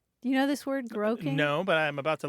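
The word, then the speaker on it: groak: you know this word groing no but I'm about to learn you are you are it's spelled either g r o a k or g r o w k and it's a Scots term and if you look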